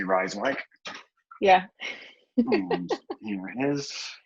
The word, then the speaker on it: Rijswijk: You asked before we came on, how do you say Rijswijk? Yeah. And here it is. Well, for Americans, that's a lot of J's in that word. Yes. And since they are silent.